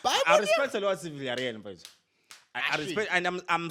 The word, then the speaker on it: Villarreal: Villarreal.